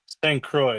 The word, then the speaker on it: Saint Croix: How has grown up in Saint Croix? And I'm saying it right? It's Saint Croix, right? St. Croix, you're close. Saint St. Croix. Croix.